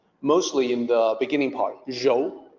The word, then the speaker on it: rou: Pinyin is R-O-U, so a native English speaker might say Rao or, Rou, something like that, but it's more like R-O-H, Rou.